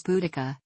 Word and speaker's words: Boudica: and bodega in Algeria the closest English equivalent to the vowel in the first syllable is the O in bone arrow genres suggested that